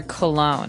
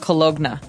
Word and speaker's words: cologne: o g n e so you don't really say the g it's not cologna right it's cologne and it's something that